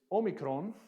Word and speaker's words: Omicron: this one right Omicron now in erasmian it was pronounced as a short o sound of ah like and so you might have heard about the logos but in modern Greek it sounds like a oh logos would be the